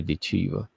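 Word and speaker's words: Ditcheva: I was gonna say Dudakova, but no, it's Dakota Dechiva.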